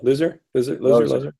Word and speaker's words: Loser: Yeah, Loser. It's pronounced Loser, but it's spelled loser.